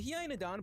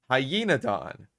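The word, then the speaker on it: Hyaenodon: the video number 20 the hiodon belongs to the crein family in order okay I I feel like feel like the pronunciation is kind of unforgivable there um hyena Don it's literally a a name with Dawn at the end it's like he's the dawn of hyenas um continue extinct mammals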